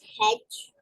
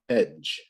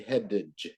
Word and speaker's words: hedge: Let's pronounce hedge. Hedge. Hedge. Yeah, hedge. The D is silent. You don't say headage. You just say hedge. You don't hear the D.